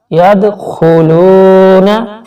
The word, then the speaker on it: یدخلون: Roman دیکھیے اس کا یدخلون. اردو تلفظ یدخلون یدخلون. فی کو تھوڑا سا کھینچیں گے، یا ساکن سے پہلے زیر ہے.